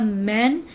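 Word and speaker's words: mane: ये वर्ड था मैन, जबकि ये वर्ड बनेगा मेन।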